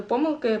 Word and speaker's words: помилки: такі помилки До речі в слові помилки подвійний наголос Я вже заговорила